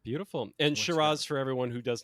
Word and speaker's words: Shiraz: as the only person from an Antipodean country, I would just like to point out we pronounce it Shiraz.